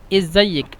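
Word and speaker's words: ازيك: করা হয় না, মানে এই যে আলিফটা সবসময় উচ্চারণ করে না ওরা, মানে ওরা বলে জাইক আমেলে, ওরা মানে এই আলিফটা হাইড করে দেয়, বুঝলেন?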